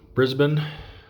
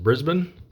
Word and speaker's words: Brisbane: thing here at uh Brisbane I was mispronouncing that last episode my apologies to any Australians that might be watching found out that that's actually pronounced Brisbane and then for uh